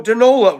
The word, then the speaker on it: Danola: You know, Danola rhymes with granola.